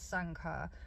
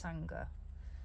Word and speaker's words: Sangha: about that word Sangha to me it says Sangha but no no it's Sangha thank you Master art